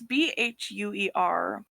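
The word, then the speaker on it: Bheur: It's Bhuer, which I've I been just pronouncing assumed- between beer and bear.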